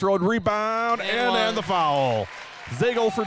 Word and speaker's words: Zagel: Zagel for 2. You know how I remember how to pronounce her last name? It rhymes with bagel.